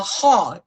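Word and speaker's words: haw: called a Nick dictating membrane membrane or a hog h-a-w is how it's spelled which keeps the eyes moist and protected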